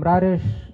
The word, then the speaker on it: Rares: So I'm Rares. If you're not sure how to pronounce that, imagine like a radish with like an R in the middle.